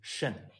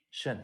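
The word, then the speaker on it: 圣: And the pronunciation of it is Shen. Shen.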